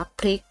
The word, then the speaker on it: พริก: กิจ จะ สังเกต ว่า คุณ ครู จะ อ่าน ตัว พ. พาน และ ตัว เรือ ออก เสียง พร้อม กัน นะ คำ นี้ จึง อ่าน ว่า พริก ส่วน คำ ว่า กรอง